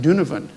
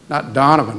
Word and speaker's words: Donovan: from uh the Irish First Ward you were pronounce it dunivan not Donovan like I did of course it fouled me